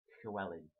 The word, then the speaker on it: Llewellyn: character for Dallas character whichever it was it's Kelling so I hope that helps if you want help to pronounce anything El um let me know um